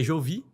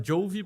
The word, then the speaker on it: Jovi: E é Jovi. Em inglês normalmente a gente fala Jovi por causa da pronúncia do J, mas como a gente